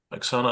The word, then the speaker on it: Oxana: not United absolutely um aana I really want to thank you very very much and um your your name is spelled Oxana but you are aana and um yeah some